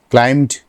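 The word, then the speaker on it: climbed: ক্লাইম্ব অর্থ আরোহণ করা, ক্লাইম্বড ক্লাইম্বড। এখানে সাধারণত এম এর উচ্চারণটা সেইভাবে ক্লাইম্বড ক্লাইম্বড, বি এর উচ্চারণটা হয় না কিন্তু শেষে।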